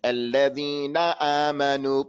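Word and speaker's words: الَّذِينَ آمَنُوا: That noon at the end of the word, you make it like it's the beginning of the word. Alladina amanu. Don't say alladina amanu. Alladina amanu. No, na wa a. This na and this a has to be the same.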